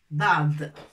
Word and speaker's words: ضاد: ضاد حين نزيل الرقبة ننطقها ضاد ضاد. Mais avec raqba, avec ce trait, c'est pas dad, mais dad. Dad. Voilà, comme ça.